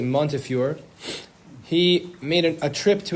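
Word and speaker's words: Montefiore: And in Hebrew, I noticed people write it as Montury, but I believe you pronounce it Monteur.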